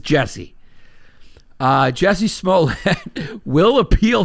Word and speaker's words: Jussie: will appeal it juicy it's so hard not to call him juicy because it's spelt juicy but he pronounces jesse uh jessie smolin will